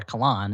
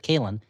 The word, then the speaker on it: Kalen: And I'm also very sensitive to my last name being mispronounced when people say Callan or Kalan instead of Kalen.